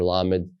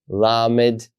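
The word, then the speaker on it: ל: keep going forward as la just like we have the letter L in English now in this case with the letter lamid you can see that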